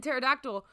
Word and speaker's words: pterodactyl: Because the P is silent in pterodactyl.